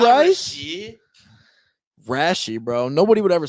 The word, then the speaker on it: Rashee: It's Rashi. It's Rashi Rice. Rashi It's not Rice? Rasheed.